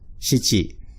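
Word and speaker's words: 七: Now, nana also has an alternate pronunciation, shichi.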